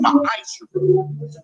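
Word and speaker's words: ma'aser: You can find this in Numbers 18:21, Malachi 3:8-10, means 10th in the Hebrew, and it's pronounced ma'asher.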